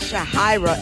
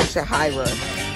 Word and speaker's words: Shahira: No, it's not Shahara, it's Shahara. Mom. Mom. How do you say how do you say your own name? Shahara or Shahira? It's Shahira.